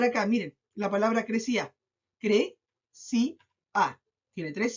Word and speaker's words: crecía: Cre-ci-a. Tiene tres sílabas, pero esta se acentúa en cre-ci-a.